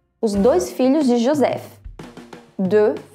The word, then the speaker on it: deux: Olha só, pronuncia deux, é como se fosse somente a letra E, que a gente viu no primeiro filme. Deux. O X no final não é pronunciado.